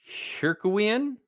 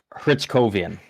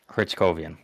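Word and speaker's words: Hryckowian: Hell, it's not a lot of money, but Justin Hercowean if that's even how you say it. He's making 900 one. Hritzcowean. That's how it is. Hritzcowean.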